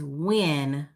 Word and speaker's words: Nguyen: So in which country is Win the most common surname? And Win is spelled Nguyen.